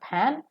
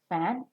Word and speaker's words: fan: So it is not pan, it is fan.